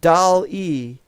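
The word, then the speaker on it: DALL-E: nation or the world or whatever it's called doll e which sounds like something a girl would have uh but it's spelled d-a-l-l-e and doesn't have anything to do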